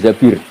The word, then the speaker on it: Zabir: nikah sama Abdurrahman Bin Zabir di di hadis ini bukan bacanya bukan Zubair tapi Zabir Abdurrahman binabir tapi orang